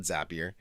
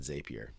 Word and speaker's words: Zapier: lot i call it zapier um because at one point they had a model that said zapier makes you happier but but most people actually pronounce it zapier so anyway just curious